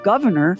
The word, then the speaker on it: Gouverneur: baby boy was christened governor pronounced like the elected office but spelled like a fancy French cheese again your old money